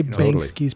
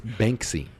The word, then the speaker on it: Banksy: yeah I would say bangs Keys probably got it yeah even though I'm not a feeling I think you're saying is name wrong am I it's Banksy Banksy oh but there's a K in there they I know